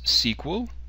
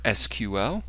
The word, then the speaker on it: SQL: this is SQL and it's pronounced as sequel or SQL depending upon your preference I will use both